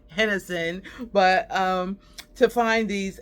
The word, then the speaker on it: Henderson: I came all the way back here to my little town of Hennison called Henderson. They pronounce it Hennison, but um to find